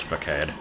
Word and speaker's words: Facade: And it's definitely pronounced Facade.